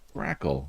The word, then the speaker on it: grackle: Grackle. There we go. It's like crackle with a G.